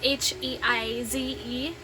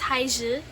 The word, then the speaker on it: Heize: So it's Heize. And I think in Korean it's Haiji.